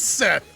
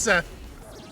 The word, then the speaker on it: Seth: It is Seth. It's just Seth. It's not like some fancy pronunciation. Its name is just Seth. Just straight up Seth.